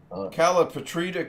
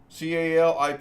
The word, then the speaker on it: Calipatria: Personally, and with what's going on now, I'm getting a call from Calipatrita, California. Calipatria, Calipatrita. I would say that's how that's pronounced.